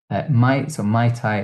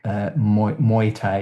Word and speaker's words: Muay Thai: Is that how you say it? Mai Tai is the drink. Muay Thai Muay is the, Thai. the martial art.